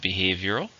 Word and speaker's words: behavioral: And then we also have behavioral. British and American spelling. It's an adjective. How many syllables are in behavioral? 4, stress is still on the second.